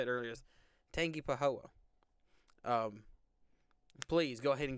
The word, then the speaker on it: Tangipahoa: someone told me how to say it earlier Tangipahoa um please go ahead and get right back